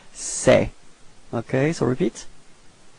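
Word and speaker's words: ces: Alright, so it's this it's open, it's okay, so don't be afraid to open your mouth, and it's pronounced like c'est. Okay, so repeat, c'est.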